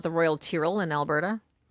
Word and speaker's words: Tyrrell: That's what it was and she's like, "Oh, don't even say Tyrell in Drumheller. People will lose their mind." Wow. Tyrrell. Okay. I feel like they should phonetically put that on their sign because I guarantee you everyone is saying Tyrell.